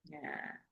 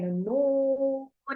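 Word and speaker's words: ن: Nun bacanya bukannya na tapi nun.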